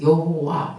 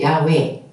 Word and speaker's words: 여호와: 근데 이것을 이스라엘 사람들은 I am who I am을 여호와 이렇게 불렀어요. 나는 스스로 있는 자야. 그것을 이스라엘 사람들은 여호와. 이거를 다르게 발음하면 야훼. 똑같은 발음이에요.